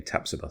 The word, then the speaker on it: Tapsoba: If we do sign Tapsoba, which apparently that is how you pronounce the name, Tapsoba.